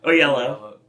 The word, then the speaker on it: Oyelowo: It is 2 O's with yellow. The in way middle. you say it, you say it so fast that the O is silent. There are 2 O's in there. Oyelowo.